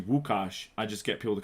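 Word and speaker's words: Łukasz: i was like oh like that's my name like my name is actually wukash i just get people to call me she's like oh so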